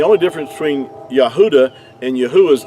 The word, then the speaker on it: Yahuah: the ancient Hebrew and if you remove the D out of Yehuda you have the pronunciation of yahuwah so uh another word